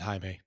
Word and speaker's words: Jaime: right seth yeah and he pronounces it jaime jaime oh i'm so sorry jaime